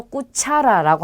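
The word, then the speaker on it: cuchara: 그래서 꾸차라라고 합니다. 자, 까마 하면 침대를 뜻하는 단어고요. 자, 꼬미다는 음식이에요. 그리고 꾸차라는 숟가락을 뜻합니다. 그래서 아, 오, 우를 만났을 때는 까, 꼬, 꾸로 발음이 된다라는 거고요.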